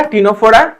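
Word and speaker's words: Ctenophora: Cnidaria টিনোফোরা tissue.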